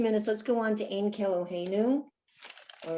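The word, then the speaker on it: אין כאלהינו: So Ein Keloheinu, Ein means there is not.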